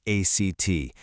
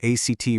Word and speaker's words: ACT: Well, that guide is called Neuroflex ACT. And yeah, we pronounce it ACT like in a play.